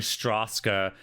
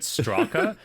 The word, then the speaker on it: Straka: video on S because I pronounced the mysterious author character's name Straska, even though there's no second S in his surname. I was just like the entire time going Straska, and then looked on